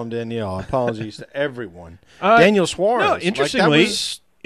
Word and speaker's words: Daniel: I didn't mean to call him Danielle. Apologies to everyone. Daniel Suarez. No, interestingly, in his tough deal. In his language, it would be pronounced, more like Danielle.